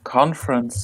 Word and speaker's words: conference: For example, conference. When I pronounce it anyway, and I think for you, only has 2 syllables. Conference. So the first E is, and the last E as well, we don't really say.